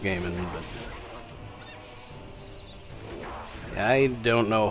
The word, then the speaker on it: Gaiman: Yeah, I think his name is pronounced Gaiman, but I don't know a whole lot of his works.